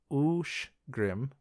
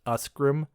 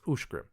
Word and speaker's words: Uscgrim: The name USCGRIM is Ushgrim. The CH in there turns into a sh sound. It looks like it should be pronounced Usgrim, USCGRIM, but it's not pronounced Usgrim, it's Ushgrim.